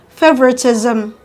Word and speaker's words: favoritism: syllable at the beginning now the end with suffix ism are stressed on the first syllable at the beginning examples are socialism socialism capitalism capitalism favoritism favoritism etc i'm sure